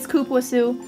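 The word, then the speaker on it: cupuaçu: fruit smell is it scoop wasu that's what it is it even says in the ingredients and most people can't pronounce that but yeah that's how you pronounce it it scoop was ooh it's delicious if you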